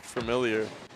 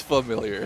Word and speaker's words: familiar: no they they look familiar saying familiar with an r at the St that's just not how the word is pronounced is it it's not it's not it's yeah it's familiar yeah I don't know